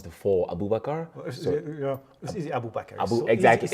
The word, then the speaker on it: Abu Bakar: a pleasure yeah uh my name is Abu Abu bakar but I go by a it tend to be easier especially for uh English people they can't pronounce the four Abu bakar Abu bakar exactly it's easy right yeah but